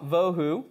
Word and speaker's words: bohu: put that up here the reason why I like to to pronounce that VA vohu is this is going